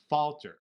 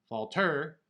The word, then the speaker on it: falter: So by emphasizing that first syllable, which also is the accented syllable in that word, falter. We don't pronounce the word falter, it's falter.